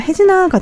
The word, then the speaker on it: 혜진아: 그래서 혜진아가 돼요.